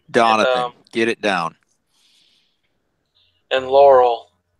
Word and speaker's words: Donathan: think she understood that Donovan or Donathan, however you say his name, and it's Donathan, okay? If you just say it Donathan, 3 times, you'll get it right from here on out.